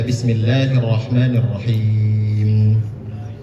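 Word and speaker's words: بسم الله الرحمن الرحيم: Bismillahirrahmanirrahim. Karena hukumnya madi. Mad thi itu dua harkat. Kalau kita bacanya bismillahirrahmanirrahim itu bukan dua harkat tapi tiga harkat. Jadi cukup diayun saja.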